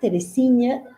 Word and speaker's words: Teresinha: Entonces, a partir de la lectura de Teresinha Núñez, que se escribe Teresí, luego NH, Teresinha, y Núñez, sí, normal, terminado en Z, no, terminado en S me parece, bueno, no sé.